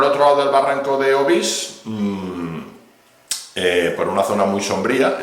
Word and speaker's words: Obís: Desde allí se ve la situación de Obís, que mucha gente le llama Obís, pero es Obís, con acento en la I, que luego...